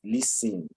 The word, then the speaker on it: listen: someone use a listing the t is silent listen generally during the course